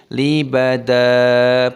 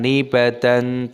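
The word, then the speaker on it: لبدا: Alaihi, ya sukun dibaca alaihi, libada, bukan libadan, tapi libada.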